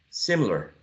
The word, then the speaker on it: similar: Similar. Some speakers may say 2 and not 3. Most of speakers would say 3 syllables, right, for this one.